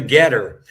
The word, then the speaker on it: GETTR: the most effective on Getter. So if anyone is on Getter, that's spelled GETTR, and it'll be at